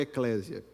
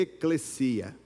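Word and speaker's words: ἐκκλησία: Não é eclésia. Eclésia é o aplicativo da igreja. A pronúncia correta é eclesia.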